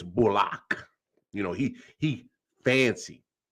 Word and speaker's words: Bullock: bullock oh block he he made that correction he wants everybody to pronounce his name bullock now you feel me reggie didn't been in the league almost 10 years everybody been calling him bullock now he's not no no it's bullock you know he he